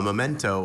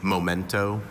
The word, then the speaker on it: memento: Kaylee often wears her claddagh ring, a memento of her summer in Ireland. Memento, there's also a non-standard pronunciation, momento.